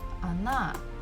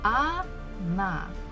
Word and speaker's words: она: So as we can see, we have O, it's one syllable, and another one is na, na. So this first letter O is not stressed. That's why I pronounce it as A.